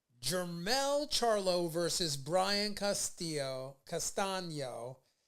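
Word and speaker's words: Castaño: charlo versus brian castillo castano and or castano that's how you say his name sorry about that all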